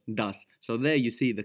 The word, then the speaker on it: das: And even in some dialects of German, you can hear des instead of das.